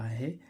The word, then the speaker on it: hoe: आए ओई आए तो तो इस ओई का उच्चारण ओ होता है क्या होता है ओ होता है जैसे हम देखें एच ओ ई हो देखो इसमें एच के